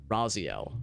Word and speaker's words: Raziel: Raziel, yeah, that's probably how you pronounce it.